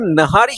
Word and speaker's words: निहारी: तो ये प्रोनाउंसिएशन क्या नहारी है या निहारी है? बहुत लोग नहारी बोलते हैं, निहारी है मोस्टली, अच्छा, लेकिन सबके बोलने पे आप जो बोलिए।